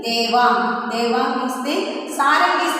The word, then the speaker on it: Devang: D-E-V-A-N-G. How do we pronounce that name? Devang.